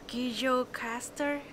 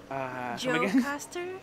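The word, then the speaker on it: Gjirokastër: So the J would be a Y sound. It'd be Gye or something. Gye. Gjirokaster. No, Gye. Gjirokaster. No, it could be Gjirokaster.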